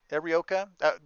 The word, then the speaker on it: Arioka: But Arioka, is that how you pronounce that? Arioka is right.